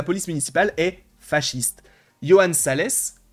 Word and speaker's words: Salès: Johan Salès, alors je sais pas si ça se prononce Salès ou Sal, mais en tout cas on va le prononcer Salès parce qu'il y a un S à la fin, en tant qu'élu, exige